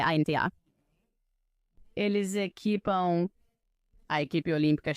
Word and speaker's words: Anta: Acho que se pronuncia ANTA. É ANTA.